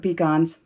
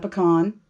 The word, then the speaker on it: pecan: About a cup of pecans. I don't care. I'm in the South. It's not pecan. It's not pecan. It's pecan. That's how you say it on the West Coast.